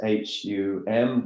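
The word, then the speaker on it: hūṃ: That means in this context it's a pure nasal, which sounds more like, if you were to write it phonetically, as if you were written H-U-N-G, Hum.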